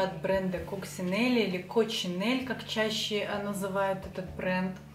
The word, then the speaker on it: Coccinelle: ну ладно я буду проект наверно второй вариант coccinelle потому что под этим названием более известен и и чаще произносят кучин или они как сины сначала это было небольшое